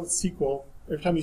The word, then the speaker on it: SQL: query language thus thus to pronounce each that still Letarte to this day of SQL is sequel they had to change